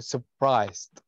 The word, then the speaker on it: surprised: حرف الآر هنا صامت ما ينطق. على طول أقول surprised بهذه الطريقة.